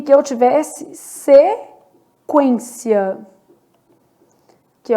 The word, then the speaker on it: sequência: Já na palavra sequência, olha o que está acontecendo. Sequência. Eu tenho um dígrafo, mas é o EN. O U é pronunciado, tá?